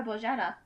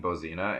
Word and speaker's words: Bojana: I mean, as long as you say it like that and don't butcher it, because the reason my mother changed her name was primarily because people kept saying Bozina, and she essentially flipped a table.